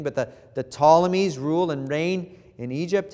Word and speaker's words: Ptolemies: In Egypt, you have the the Ptolemies. It's a silent P at the beginning, but the the Ptolemies rule and reign in